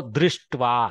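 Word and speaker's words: दृष्ट्वा: It is not ra. It is r, r. So drishtva, like that we have to read.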